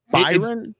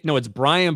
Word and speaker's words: Byron: I But think it was Byron. It's Brian, but it's spelled with an O, like Brian. Okay. So okay. like, if you just look at it, it's got all the letters of Byron.